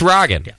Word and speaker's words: Ragin: wrong but it's not Rogan you were saying Rogan it's Ragan it's Ragin cuz I think it's the last name of the of the owner which is pronounced Ragin not Rogan but Ragin uh great